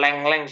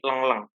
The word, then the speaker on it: tengkleng: dipakai dalam apa manajer bacanya nih bukan lengleng sih mas Tapi tengkleng tengkleng apa yang bisa diartikan